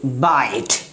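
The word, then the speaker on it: bite: बाइट, यानी इसकी pronunciation क्या हो जाती है?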